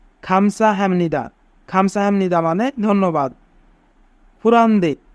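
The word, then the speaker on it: 감사합니다: কিন্তু যদি বিয়োগ বা চিমের পরে নিয়ম থাকে তবে বিয়োগের উচ্চারণ মিউমের মতো হয়। তাই এখানে বিয়োগের উচ্চারণ মু হবে। হাম।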